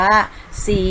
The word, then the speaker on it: ศรี: ใส และ เศรษฐี ค่ะ ซึ่ง นะ คะ จะ ไม่ ออก เสียง ตัว รอ เรือ นะ คะ จะ ออก เสียง เฉพาะ พญา ชา ตัว หน้า คือ ศ. ศาลา ค่ะ ต่อ ไป นะ คะ